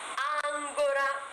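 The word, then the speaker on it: ancora: ആപ്പേ തേനീച്ച അടുത്ത വാക്കാണ് അങ്കുറ നങ്കൂരം എന്നാണ് ഈ വാക്കിനർത്ഥം ഇത് പക്ഷേ അഡ്വെർബ് ആയിട്ട് ഉപയോഗിക്കുമ്പോൾ ക്രിയാവിശേഷണം ആയിട്ട് ഉപയോഗിക്കുമ്പോൾ ഇറ്റാലിയനിൽ പറഞ്ഞാൽ അവർ ആയിട്ട് ഉപയോഗിക്കുമ്പോൾ ഇതിന്റെ ഉച്ചാരണം മാറും അങ്കോറ അങ്കോറ എന്ന വാക്ക് കേൾക്കുമ്പോൾ എനിക്ക്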